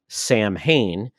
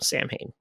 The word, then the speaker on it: Samhain: And they created basically a pumpkin head type villain, which I thought was funny because they called him Samhain. Samhain. They got the pronunciation wrong.